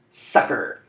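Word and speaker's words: succor: they mean starting with sucker now this doesn't mean like ha ha got you sucker though it's pronounced the same way so phonetically equivalent but the meaningless sucker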